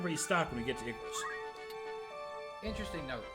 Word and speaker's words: Igros: Because remember, we can restock when we get to Igros. Interesting note. They totally mispronounced and misspelled that one as well. Igros, Igros, Iagros. Igros.